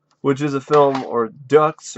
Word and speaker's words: Deux: a film or ducks or is it like part do I don't really know how I think it's part do because it's like the x is is is silent so I think it's a French word which is also known